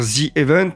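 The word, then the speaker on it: ZEvent: event le Z event parce que l'objectif est de jouer sur la prononciation un petit peu du Z à l'anglais pour dire Z event et que ça soit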